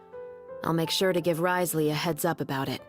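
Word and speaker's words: Wriothesley: Fortress of meped I'll make sure to give Risley a heads up about it Risley oh no wonder you guys said that it's pronounced as rizzler I pronounced as riotly but then you guys are like Risley I'm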